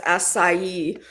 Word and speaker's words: acai: Yeah, it's asai but I don't know where you'd get it here.